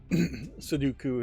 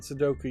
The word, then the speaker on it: Sudoku: Sudoku is what I often mispronounce it as if it was like Count Dooku from Star Wars.